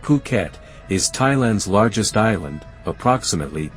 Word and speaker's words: Phuket: you the history of fukat fukat pronounced puket is Thailand's largest island